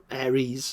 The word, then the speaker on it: Ares: Character number one is named Ares, or Ares as it's pronounced, and he loses the